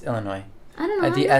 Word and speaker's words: Illinois: It's French, so the S is silent.